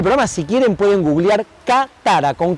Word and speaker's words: Katara: Cuando termine el programa, si quieren pueden googlear Katara, con K de Haller, como se escribe mi nombre, Katara.